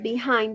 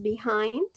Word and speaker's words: behind: Y la pronunciación es behind. Hay personas que lo traducen como, o bueno, que lo pronuncian como behind, como con una A en medio.